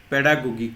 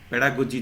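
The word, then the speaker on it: pedagogy: grammar Bangla ব্যাকরণের বিষয় পেডাগোগিক শব্দের পরিভাষা কি পেডাগোগিক অর্থ অর্থ হচ্ছে শিক্ষাতত্ত্ব অর্থাৎ পেডাগোজি যাকে আমরা উচ্চারণ করি আসলে উচ্চারণটা হবে পেডাগোগি শিক্ষা সম্পর্কিত বিষয় জানা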